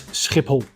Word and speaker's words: Schiphol: So, the correct pronunciation is Schiphol.